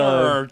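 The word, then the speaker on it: Mjölnir: and current wielder of Mjorn, I'm not even sure how the fuck you pronounce the name of the... Mjolnir, dude. You can't read? The J is pronounced like a Y.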